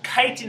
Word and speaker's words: chitin: this carbohydrate called chitin this Titan is spelled CH i TI n really important carbohydrate actually and